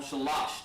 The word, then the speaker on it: Shalash: Shalash. That's number 3. That's how you say it.